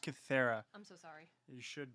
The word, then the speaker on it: Kythera: Joining me is my co-host and brother, hailing from Cytheria Island, DJ. It's pronounced Kythera.